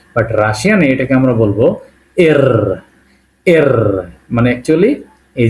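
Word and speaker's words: Р: রাশিয়ানে এটাকে আমরা বলবো এর। এর মানে অ্যাকচুয়ালি এই যে আর। ঠিক আছে, আর ইংলিশে আর, এটাকে আমরা বলবো রাশিয়ানে পি এর মতো দেখতে, এটাকে বলবো এর। এর উচ্চারণ হবে র এর মতো, যেমন রাশিয়া, রাশিয়া।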